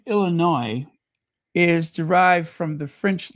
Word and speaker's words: Illinois: Just remember the S is silent. It's Illinois, not Illinois, just Illinois.